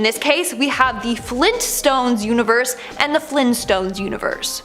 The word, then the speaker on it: Flintstones: Now, the Flintstones are pronounced as so you would think it would be spelt as so. No, apparently it's the Flintstones with the hard T.